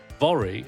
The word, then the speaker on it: Vori: My information I have is that the name Voy Vori, I guess, apparently rhymes with Lori.